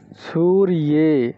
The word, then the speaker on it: সূর্যে: রূপ হয় সুরিয়া সুরিয়হা উচ্চারণটা ঠিকভাবে বলতে হবে আমি আবার বলে দিচ্ছি সূর্যে এখানে দেখবেন সূরিয়া শব্দের ক্ষেত্রে দন্তস দীর্ঘ উকার আছে তো এখানে সঠিক দীর্ঘ করতে হবে সূরিয়ে এই যে নরে শব্দের